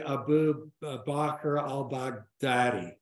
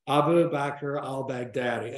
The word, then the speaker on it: Abu Bakr al-Baghdadi: by this guy uh phonetically Abu Bakr al-bag Daddy yeah Abu Abu Bakr al-baghdadi and Iraqi and so